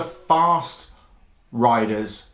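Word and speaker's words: Farstriders: Eternals warband called the Fast Riders. I think that's right, even though fast is spelled F-A-R-S-T.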